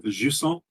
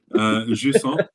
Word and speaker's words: Jusant: So I've been playing Jusant. Oh, she's so sweet. What? Jusant, which is like the rising tide or something in French, something like that.